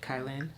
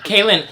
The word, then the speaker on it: Kaelin: Okay, next we have my friend Kaelin. Did I say it right? Kaelin? No. Kaelin.